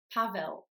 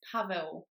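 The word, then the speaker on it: Paweł: of people pronounce it pavl in English-speaking countries in fact the L with a stroke is pronounced W which is the same sound as the sound in the English word word or W or world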